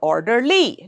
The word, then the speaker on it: orderly: The second rule is when a word ends in l y the stress is usually on the first syllable. Let's see here we have orderly, silently, lovingly. These words are ending in l y. L y. So the first syllable gets the stress. It's orderly. The crowd moved or marched in an orderly fashion. It's not orderly or orderly. No, it's orderly.